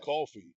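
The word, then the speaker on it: Coffey: My name's Coffee, like the drink, but it's spelled different.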